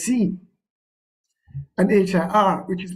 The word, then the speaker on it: sie: It's spelled as SIE, but it is pronounced as C, and HIR, which is pronounced as here.